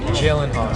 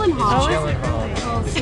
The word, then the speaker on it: Gyllenhaal: Mr gyllenhal and yes that is how you pronounce his name you want me to say it for you so you know it jillen Hall Jen jillen Hall everyone it's jillen Hall before I get to